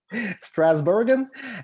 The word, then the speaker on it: Strasbourg: strasbourg yeah i mean it depends on if you want to go with the american pronunciation or the actual pronunciation strasbourg and uh there was